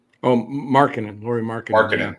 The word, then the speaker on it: Markkanen: Once the guy from Utah, Mark, can I never pronounce his name right? Markanian? Oh, Markkanen, Lauri Markkanen. Markkanen, thank you.